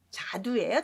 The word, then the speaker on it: 자두: 도 발음이 두말입니다. 자두예요. 자두.